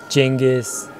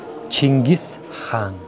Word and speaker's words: Chinggis Khan: Like some people say Chinggis Khan, some about it. Genghis. Yeah, but yeah. The proper way proper is... Way, proper way is Chinggis Khan. Chinggis Khan.